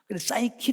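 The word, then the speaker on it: psyche: ic 에 진 이세요 그런데 이것은 어떻게 발한 아니면은 부 쉽게 난지 아니고 싸이키 라고 말하지 좀 힘 찍힌 멘탈에 문제가 있는 젊은 싸이코 라고 말하잖아요 싸이키 라고 발음 되죠 아 그런데 이 어원은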